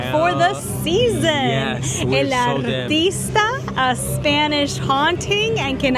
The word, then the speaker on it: El Artista: Yes, we're El Artista, a Spanish haunting, and can I just say, start rolling those R's, baby. Download Duolingo, start pronouncing those R's, because we need to